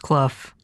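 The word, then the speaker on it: Clough: it's just Cole directed by Chris cluff apparently pronounced kluf um and aired in November of 1987 yes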